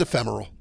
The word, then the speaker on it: ephemeral: Yeah, this one feels ephemeral. It really does. 4 syllables in ephemeral.